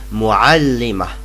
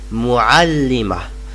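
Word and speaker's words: مُعَلِّمَة: and it is pronounced muallima. I repeat, muallima. I repeat again, muallima. And notice that these ta' marbuta are not pronounced.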